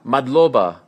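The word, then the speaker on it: მადლობა: do you say thank you in georan MOBA madloba yes and how do you say good luck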